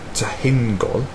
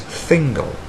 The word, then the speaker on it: Thingol: As letters, we would pronounce this as tahingol, as I previously said, or as phonetic symbols, correctly as thingol.